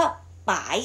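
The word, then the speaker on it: 白: ยัง ไง ตัว ยา สี นี้ เรา ออก เสียง ว่า ป๋า ย เสื้อ ป๋าย สัตว์ สาย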